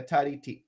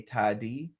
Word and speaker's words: tari: Is common to use the kita taka tari kita. So tari is spelled T-A-R-I, but I say tadi because it's easier when you're going fast for me.